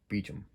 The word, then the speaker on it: Beauchamp: george beecham's name um it's spelled like beauchamp but um the wrecking backer website says it should be pronounced beecham or beechman i'm never gonna get